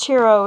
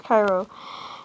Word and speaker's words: Cairo: I know it's like said Chiro. It's not pronounced Chiro, it's Cairo.